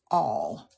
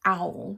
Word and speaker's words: awl: A-W-L. All. Not owl, but all.